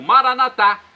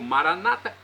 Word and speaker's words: Maranatá: E agora, do aramaico, dialeto de Jesus, eu clamo, Maranatá, como dizemos nas católicos, ou Maranata, como dizem nossos irmãos separados, os evangélicos ou protestantes. Não importa a pronúncia, o significado é o mesmo.